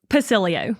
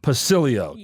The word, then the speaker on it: Pacileo: started how do you say your last name pilio pilio pilio thanks for being here today yes thank you